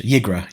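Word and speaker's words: Ygra: So you have Yigra out, but you can cheat Yigra.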